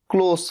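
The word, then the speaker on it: close: एल ओ एस ई क्लोज बंद करना और सी एल ओ एस ई एक और सेम वर्ड है सेम स्पेलिंग लेकिन बोलने का तरीका होगा क्लोज स आएगा लास्ट में लेकिन तब इसका मतलब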